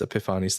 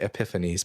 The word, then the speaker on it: Epiphanes: and his successor Antiochus Epiphanes IV. I don't know if people say Epiphanes, but I like Epiphanes. It's like Greek.